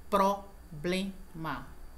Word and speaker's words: problema: Problema, que existe variações, né? Problema, né? Quando a pronúncia correta é problema, assim como cérebro também, próprio, tá?